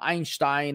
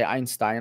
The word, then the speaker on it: Einstein: you look it up both pronunciations are valid you can say einstein you could say einstein lebanese people say einstein